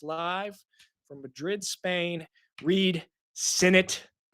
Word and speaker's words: Sinnett: Coming to us live from Madrid, Spain, Reid Sinnett. Rhymes with in it to win it.